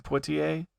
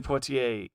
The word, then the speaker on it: Poitier: In this video, he was talking about how Sydney, I'm gonna say it wrong, Poitier. Uh huh. I grew up watching him in the heat of the night, right? Yeah. Sidney Poitier, like he prepared the way for Denzel Washington,